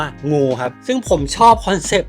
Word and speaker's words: NGU: Give Up เนี่ย ครับ ถ้า เอา ตัว อักษร แรก มา N G U Never Give Up เนี่ย พอ มัน อ่าน ngu มัน จะ อ่าน ว่า งู ครับ ซึ่ง ผม ชอบ